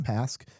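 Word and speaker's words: Pasque: Pask, is that how you say it? Yeah. Pask.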